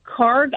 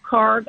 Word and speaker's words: Kharg: And so we have a very interesting development, I think, overnight, This was the Karg Island event, and I know you referenced it briefly.